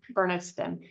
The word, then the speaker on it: Bernardston: being that you're currently the town manager for Bernardston. And please correct me if I'm pronouncing that wrong.